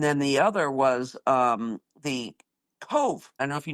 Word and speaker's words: Cobh: And then the other was the Cove. I don't know if you know the town of Cove. It's spelled actually Cobh.